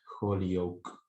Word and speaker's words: Holyoak: Defenderé, o mejor dicho, voy a intentar mostrar que, tomando como referencia la teoría sobre analogía de Holyoake, lo que se pronuncia así, y Zagar, por un lado, y